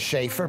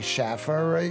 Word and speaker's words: Schaer: getting it right well my name is schaer people say Schaffer you just got to